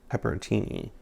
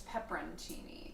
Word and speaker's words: pepperoncini: was pretty sure i was saying it wrong pepperontini it's pepperoncini though and when i looked at it i